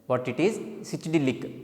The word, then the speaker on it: psychedelic: These and all also called as a psychedelic. What it is? Psychedelic. P is silent.